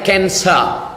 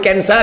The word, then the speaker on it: cancer: besar kista menjadi kcer c a n c e r Cancer cara membacanya kcer orang kita payah nyebut kancer Kenapa kanker harus dibuang